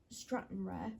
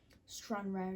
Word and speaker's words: Stranraer: pronouncing stran ra wrong I said at the beginning of the video uh Straton rare which is obviously wrong which I did correct saying it was stran rare instead which I said for